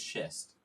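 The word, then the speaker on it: schist: But I know this is shist.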